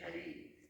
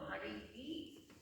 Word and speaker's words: Hari: You say Hari. No, Hari. You have to pronounce the, if you don't pronounce the H, the whole grammar is lost.